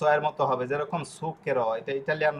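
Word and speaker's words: zucchero: কিন্তু শব্দটা হবে সুকের। ওকে? এই শব্দটা হচ্ছে মানে শুদ্ধ শব্দটা কিরকম বিকৃত হয়ে গেছে সমস্ত ইতালিতেই।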